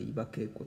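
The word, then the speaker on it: 伊庭恵子: あ、これ伊庭恵子作詞、伊庭、伊庭と書いて伊庭恵子と読む。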